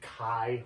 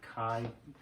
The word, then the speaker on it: chi: I know it looks like it's pronounced chi, but it's actually chi, like chi.